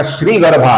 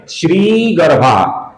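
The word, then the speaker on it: श्रीगर्भः: श्री गर्भा का जो श्री है दोस्तों ये दीर्घ है। इसका हमें श्री ऐसा उच्चारण करना है। कुछ लोग इसका श्री गर्भा ऐसा रस्म उच्चारण करते हैं जो कि गलत उच्चारण है।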